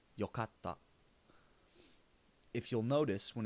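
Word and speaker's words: よかった: japanese i would say yokatta if you'll notice when it's written yokatta is not pronounced yokatsuta there is a small tsu that is a little bit smaller than a regular tsu this is silent and puts a little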